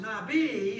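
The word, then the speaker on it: נביא: at that okay all right I know it's pronounced Nabi in English or as close to how it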